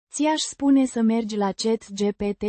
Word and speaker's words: spune: Aș spune. Pronounced Spune. with a soft E. at the end. The U. is pronounced as in put, Să.